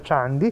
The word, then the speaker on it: Candi: Me lo sono scritto, perché è scritto Candi, sì. Però si pronuncia Chandi, esatto.